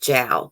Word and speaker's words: Zhao: her name is susie zhao i cannot believe it's pronounced jowl because it's uh spelled